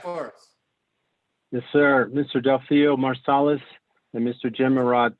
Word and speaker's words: Delfeayo: by a truly amazing musical genius and teacher, Delfeayo Marsalis. Delfeayo. I knew I said it wrong when it came out. It slipped. It slipped. Delfeayo.